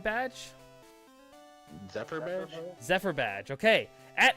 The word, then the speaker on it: Zephyr: this screen up the uh how do you pronounce that zephi badge Zephyr badge Zephyr badge okay at enemy North there